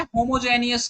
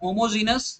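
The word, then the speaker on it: homogeneous: तो एक्चुअली ये होता क्या है, होमोजेनियस कैटलिस्ट। होमोजेनियस मतलब समझ रहे हो ना, या होमोजीनस जैसा आपका प्रोनाउंसिएशन हो, ठीक है।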